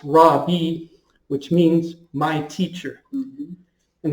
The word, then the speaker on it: rabbi: ordained the word at the time would be pronounced raw B which means my teacher and that's what he